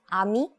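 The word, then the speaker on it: 아미: So, can you pronounce this word ami? Ammy.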